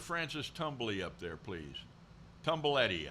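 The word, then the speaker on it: Tumblety: tumbly up there please tumble Eddie I think is how you pronounce it tumbaletti tumble it right there okay now here's an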